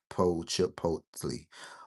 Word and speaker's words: Chipotle: All right, say chip, this is silent. Chipotle.